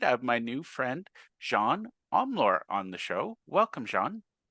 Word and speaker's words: Jeanne Omlor: I'm really excited I have my new friend Jean omor on the show Welcome Johan thank you so